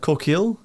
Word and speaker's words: Corkill: I believe Leo pronounced like CORKILL.